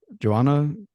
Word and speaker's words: Johanna: Uh, I want to make sure I'm pronouncing your name correctly, by the way. Joanna Joanna.